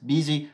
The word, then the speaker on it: busy: Attention aussi au U qui a tendance à se prononcer I, comme par exemple dans « business »,« busy » ou encore « minute ».